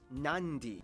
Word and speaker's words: Nadi: make the um sound therefore the town of Nadi is actually pronounced nandi and this word is